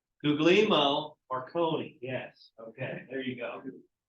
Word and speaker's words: Guglielmo Marconi: How do you pronounce it, Wyatt? Oh, Guglielmo Macaroni. Guglielmo Marconi.